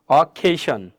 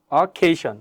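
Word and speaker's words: occasion: বা সাউন্ড হবে ঠিক আছে এখানে কি আছে অকেশন অকেশন কারণ হচ্ছে এই যে অকেশনের পরে এখানে একটা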